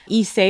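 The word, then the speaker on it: Ysé: Isey is spelled YSE.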